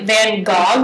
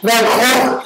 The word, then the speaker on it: Van Gogh: Apparently every country pronounces Van Gogh a different way. And France is like Van Gogh. Van Gogh? Yeah. And 2 G's. How do they say it in Dutch? Van Gogh.